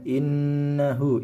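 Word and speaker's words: إنه: Wala taqrabuz zina innahu, inna dibaca mendengung karena ada nun bertasdid, yakni hukumnya adalah gunnah. Innahu na fa dan fa ini sama hukumnya, yakni mad tabi'i karena ada fathah yang mengikuti alif.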